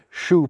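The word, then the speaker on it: choux: Borrowed terms like faua and shoe pastry give our language its silent X's.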